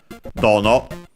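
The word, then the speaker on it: どの: Kono, sono, ano, dono, interrogative. As a reminder, the accent is unaccented for all the distances except for the interrogative, which is accented on the first syllable.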